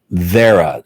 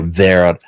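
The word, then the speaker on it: Wera: and it's uh it's vera or or we spell it w-e-r-a in german it would pronounce you pronounce the w as a v so where or vera vera and it's they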